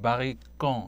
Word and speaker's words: 바리깡: 우리 복사한다 그럴 때 뭐 제록스라고 쓰시는 분들도 그러시고 그런 것처럼 불어로는 바리깡 이렇게 발음하는데.